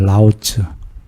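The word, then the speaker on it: 老子: 노자님이 발음이 중국 발음으로 라오츠입니다. 라오츠.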